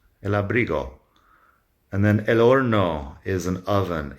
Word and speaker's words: horno: And then el horno is an oven. H in Spanish is silent. So el horno. We just pronounce the O at the beginning and the O at the end.